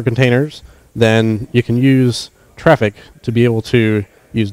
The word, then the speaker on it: Traefik: to modify the network traffic as it goes through now this it is pronounced traffic though i sometimes find myself saying it traffic or something but the official pronunciation is traffic and the things you